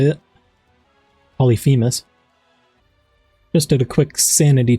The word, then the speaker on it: Polyphemus: I stay pulling Polymethus. Think that's how you say it. Polyphemus.